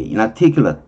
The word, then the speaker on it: inarticulate: inarticulate, 여기 강세가 articulate에 있어서, inarticulate, 근데 아기 때문에 발음이 좀 어려워요.